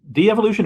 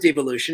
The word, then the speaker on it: Devolution: De-evolution or devolution? I pronounce it devolution. It's fine. I'm not particular.